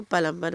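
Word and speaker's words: plumber: काम करने वालों को प्लंबर बोलते हैं। प्लंबा प्लंबर प्लामा को प्लामा प्लम नहीं बोलते प्लामा प्लम ना बी को साइलेंट कर दो प्लामा तो प्लामा को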